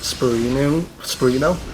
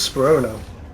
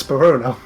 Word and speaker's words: Spurino: Americans pronounce it Spurino, but Europeans all pronounce it correctly, which is Spurono. I don't get it. Yeah, it's Spurono.